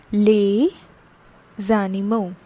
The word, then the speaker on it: les animaux: how are they pronounced lay zanimo so as this is a consonant and this is a vowel so it is collectively pronounced as animo that is the animals